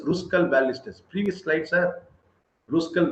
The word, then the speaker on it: Kruskal: for ruskal valley's test don't say kruskal k is silent it is ruskal ballistas previous slides are